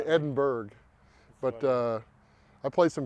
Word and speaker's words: Edinburgh: columbia south carolina and if i pronounce it edinboro people don't know what i'm saying talking about i have to say edinburgh but uh i played